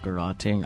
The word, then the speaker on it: garroting: Honestly, I would not have guessed that was pronounced garroting. I would have just pronounced it like a carrot.